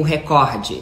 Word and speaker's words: recorde: recorde ele bateu o recorde ele bateu o recorde ele não bateu o recorde porque na língua portuguesa não se trata de uma proparoxítona não há acento na primeira sílaba ainda que na Globo